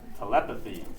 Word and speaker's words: telepathy: Telepathy. Okay. Telepathy. I know, yeah, this one's kind of a shit. Okay, kind of like telephone. Telepathy.